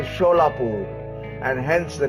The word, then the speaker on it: Solapur: Subsequently, the British rulers pronounced Solapur as a Sholapur and hence the name of the district.